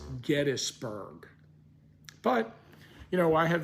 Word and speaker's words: Gettysburg: new from that family how do you pronounce your name and they always say Gettys so it's founded by James Gettys the family is the Gettys family so obviously the proper pronunciation of the name is Gettysburg but you know I